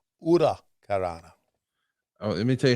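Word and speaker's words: huracanrana: That Hurricane Rana, or as Yeah, as Conan told me, no, it's pronounced Ura Karana.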